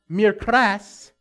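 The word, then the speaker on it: μικρός: This Greek word spelled M-I-K-R-O-S, pronounced mikras, carries with it this meaning: small or little, of size, stature, or length, of age, lesser by birth, or younger.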